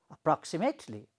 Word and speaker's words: approximately: So approximately. Okay. So the sound becomes louder when you pronounce pa.